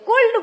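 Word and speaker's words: could: जन सुड बोलते हैं कुड बोलते हैं अरे एल तो साइलेंट है तो बोलना ही नहीं है एल है लेकिन एल बोलना नहीं है य शुड कुड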